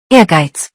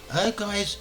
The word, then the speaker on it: Ehrgeiz: how you would, how the fuck do you pronounce this? Ehrgeiz.